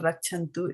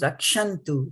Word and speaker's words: rakṣantu: It is not rakṣantu. It is rakṣantu.